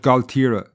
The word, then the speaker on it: Gaultier: And if you travel from Dunmore East to Waterford City, you pass through an area called Galtira. Now, this is almost French sounding, and when you see it written down, it's spelled Gaultier.